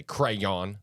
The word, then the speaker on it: crayon: want me to say crayon I was like that seems so unnatural well that's the way it said Connor it shouldn't be a two- syllable word in my mind well sure yeah I